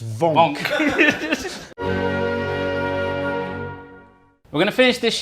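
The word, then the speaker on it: Wank: Vonk spelt W-A-N-K. Really? And there was a big note in his file saying pronounced Vonk.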